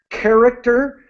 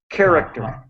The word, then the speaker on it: character: And so in this case, character begins with the K sound. Character.